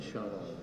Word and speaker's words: Chanel: satu unit channel I chanel chanel bacanya shanel ini dari eolesale juga